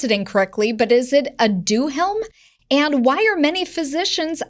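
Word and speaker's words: Aduhelm: if i pronounce it incorrectly but is it a do helm and why are many physicians against its use sure yeah well it's pronounced ad your helm yeah the background is that um alzheimer's disease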